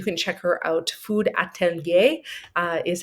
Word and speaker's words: Atelier: Food Atelier is how you say that.